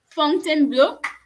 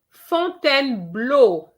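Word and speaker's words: Fontainebleau: saying blue again chantel fountain blue not quite fontaine blue fontaine blue and not fountain blue it's something blue okay if you say that e a u is o it has to end with a sound the o sound font then blow okay so love let try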